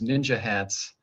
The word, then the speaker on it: NYNJ HATS: hats or nynj hats which i started pronouncing as ninja hats and then the division